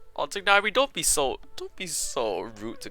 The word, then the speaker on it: Tignari: I'm calling him Tignari. Tignari.